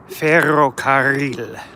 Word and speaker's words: ferrocarril: See, words in Spanish that have two R's together, you're supposed to roll your R's. Cigarra. Guitarra. Ferrocarril.